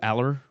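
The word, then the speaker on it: Allar: Look, I'm excited to see what Drew Aller does, or Drew Aller. I believe that's the way that you pronounce it.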